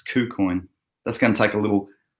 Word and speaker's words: KuCoin: bike you link on Q Queen o qu coins sorry I've been mispronouncing it it's kou-kun that's gonna take a